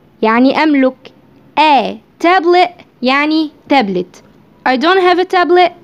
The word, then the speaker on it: tablet: حرف التي لما بيجي في اخر الكلمة قبله حرف متحرك بيتنطق ا ا. طب ينفع انطقه تي عادي؟ ينفع، بس ممكن تنطقه كده ا tablet tablet.